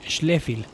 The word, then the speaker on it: Schläfli: diéresis F y L, Schläfli sería como su pronunciación en alemán.